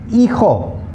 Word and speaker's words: hijo: Okay, H is the only alphabet in the Spanish language that's always completely silent. It has no sound.